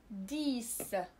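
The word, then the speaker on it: dix: والكلمة الثانية هي ديس ديس عشرة سيس ديس. إذا هنا X كتعطينا صوت س سيس ديس.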